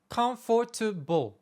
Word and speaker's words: comfortable: comprendre cette histoire d'accentonique si on reprend l'exemple de comfortable il s'écrit comfortable avec donc syllabes à l'écrit mais quand je le prononcefortable est-ce qu'on entend quatre syllabes la réponse est NON et tu l'as bien entendu on en entend trois pourquoi la règle est